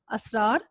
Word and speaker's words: اسرار: تو بھی جزم ہوگی۔ اسرار، اسرار میں الف کے اوپر زبر، سین کے اوپر جزم، رے کے اوپر زبر اور باقی پھر دونوں جزم کا استعمال ہوگا۔ تو اسرار، یہ آپ پر تلفظ واضح ہو گیا ہوگا۔ اور اگر آپ کو